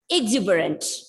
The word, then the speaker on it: exuberant: And the fourth word is exuberant. Exuberant. The second syllable is stressed.